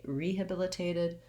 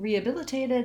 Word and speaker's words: rehabilitated: the lax vowel but because we say rehabilitated we give a little bit of stress to that first syllable so i do say my e vowel and then in rehabilitated and rehabilitation i don't say the h sound we just go right into the schwa sound here riya ria if